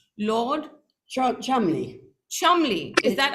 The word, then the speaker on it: Cholmondeley: Lord Cholmondeley. Cholmondeley. Is that how you say it? It's spelled Cholmondeley. That's it's pronounced Cholmondeley.